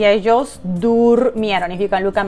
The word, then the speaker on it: durmieron: So yo dormí, tú dormiste, durmieron. So if you want to pronounce it with me, durmieron. And nosotros dormimos y ellos durmieron. If you can look at my mouse, durmieron.